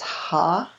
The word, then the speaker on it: Ha: So now we're going to work with the seed syllable of the Vajra Dakini in the east. And that's Ha, H-A.